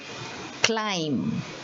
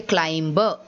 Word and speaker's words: climb: this word is called climb now see you will not say climber even though there is a b there you will say climb because the b is silent okay so c l